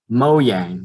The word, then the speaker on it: Mojang: they spend to purchase mo yang the creators of minecraft is how you pronounce it or mojang yeah well because it's like it's swedish so you they don't